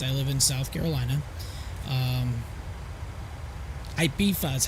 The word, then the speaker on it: Ibiza: Ibiza is how it's pronounced.